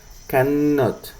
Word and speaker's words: cannot: Y la forma larga tiene acá una doble N que se debe pronunciar cannot.